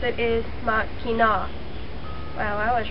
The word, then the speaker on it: Mackinac: Most people pronounce it Mackinac, but the correct way to pronounce it is Mackinac.